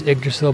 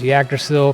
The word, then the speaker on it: Yggdrasil: So I do think the pronunciation is Yggdrasil, by the way. I thought it was Yggdrasil because it's got a Y.